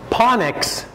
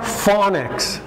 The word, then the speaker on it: phonics: okay they would say panics they would say ponix i think in pasatai you would also say panics huh well in english it's pronounced phonics phonics with an f okay but we write